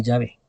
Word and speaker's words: Yahvé: Que son tres consonantes, ¿no? Y que si uno le pone pues las vocales, se puede pronunciar Yahvé.